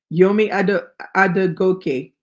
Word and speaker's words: Yomi Adegoke: Oh, that's how I pronounced it correctly. Yomi Adegoke.